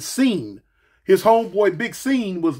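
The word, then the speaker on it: Sean: homeboy sing is really s e a n Shan but instead of saying Shan he pronounce it scene his homeboy big scen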